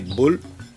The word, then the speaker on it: Boel: Boer, les colons sud-africains, et Boel, qui est prononcé boule, qui ça veut dire chien.